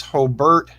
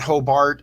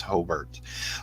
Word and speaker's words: Hobart: close from Hobert and I said it right it's hobbert not Hobart I don't know if